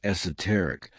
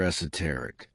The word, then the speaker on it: esoteric: Number 4, esoteric. Not a common one, but very beautiful. It's pronounced in 2 ways. In British English, the most common is esoteric, though you'll also hear esoteric.